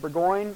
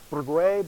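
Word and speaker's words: Bourgouin: It is based on well, I'll say it, Burgoyne. That's not how you pronounce the man's name. It's more like Bourgois, but I'm not French, so we're gonna go with Burgoyne.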